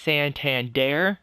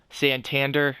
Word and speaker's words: Santander: Anthony Santander, that's actually how you say his name. Santander, as the game will say, that's his Americanized name.